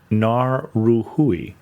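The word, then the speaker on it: Ngauruhoe: a r u h o e which is pronounced more like Nar ruhui by the way there are three not two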